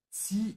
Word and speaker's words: zieh: Remember to pronounce the Z sound like T-S-C. Ja, zieh ihn langsam hoch.